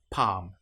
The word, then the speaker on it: palm: Another one that you might come across is when you have L, M together. An example might be palm. In this case, the L, you will notice, is not pronounced at all. Palm or calm.